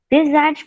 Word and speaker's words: besides: Besides knowing how to do various stunts. Tradução. Eu entendi, só uma detalhe na pronúncia.